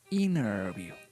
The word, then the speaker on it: interview: you mean interview but a Native American speaker ERS usually don't pronounce this letter T so what they say